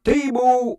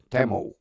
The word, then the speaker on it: Temu: I've been mispronouncing it. It's not Timu, it's Temu.